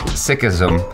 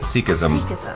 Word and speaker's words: Sikhism: So I am pronouncing it Sikhism. Achara pronounces it Sikhism.